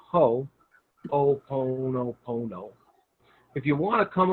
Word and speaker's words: Ho'oponopono: So it's Ho, like the garden tool. Oponopono. Just say Pono, but put an O in front of it. So it's Ho'oponopono.